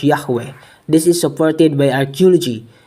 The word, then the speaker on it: Yahweh: a paris museum that yhwh confirmed this pronunciation as yahweh we have a lot